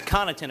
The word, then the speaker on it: Connaughton: Thank you. It's Connaughton. I appreciate that, Mr. Chairman. Connaughton. I apologize to you for mispronouncing it. It's the Irish, so.